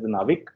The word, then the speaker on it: NavIC: already gripped on this navic stands for navigation with Indian constellation so we pronounce it as navik which was earlier known